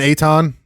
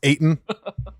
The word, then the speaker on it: Ayton: I was calling him Evan Aton, but I found out his last name is pronounced Ayton.